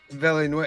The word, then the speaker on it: Villeneuve: This is a 2016 movie directed by Denis Villeneuve.